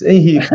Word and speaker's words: Henrico: Pronto, eu já escutei 2 ou 3 pronúncias diferentes, Henrico, mas é Henrico, agora fica mais fácil.